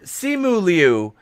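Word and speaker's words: Simu Liu: shang chi is uh and and just so simuli is i finally learned how to say his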